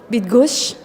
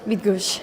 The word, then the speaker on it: Bydgoszcz: Can you please pronounce for us? Actually, I guess it's Bydgoszcz. Yes, Bydgoszcz.